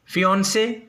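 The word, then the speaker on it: fiancée: Meaning होती है फियांसे, pronunciation एक ही है बट स्पेलिंग चेंज है। मेल मंगेतर में, मेल फियांसे में FIANCE, लेकिन फीमेल फियांसे में FIANCEE। तो बट प्रोनाउंसिएशन दोनों की क्या होगी? सेम, फियांसे, मंगेतर।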